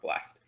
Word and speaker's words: blst: this one library called blast blst but it's pronounced blast uh so yeah that's something i'm proud of